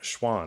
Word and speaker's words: Schwahn: both northbound supply and honest roast coffee schwann right that's how you pronounce it yeah you got it man good